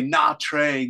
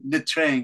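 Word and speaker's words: Nha Trang: I have to practice my Vietnamese, Nitring. Americans say Na Trang. You can say Nitring like that, Nitring.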